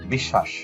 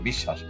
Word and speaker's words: বিশ্বাস: ব্যঞ্জনটির উচ্চারণ দীপ্ত হয় যেমন বিশ্বাস এখানে তালুবেশ্বরের সাথে বফলা যুক্ত আছে এইজন্য তালুস্বরটা দুইবার উচ্চারণ হয়েছে বিশ্বাস একেবারে বিদ্্যান দ এর সাথে